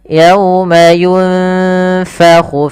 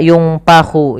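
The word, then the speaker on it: يُنفَخُ: Ayat yang terakhir, yauma yunfakhu fis suri fatatuna afwaja. Yunfa, ini ikhfa. Samarkan bibirnya, posisinya gigi atas menempel bawah. Yunfa, yunfakhu fis suri. Hati-hati jangan dibaca yungpahu, jangan pakai P, tapi dia F.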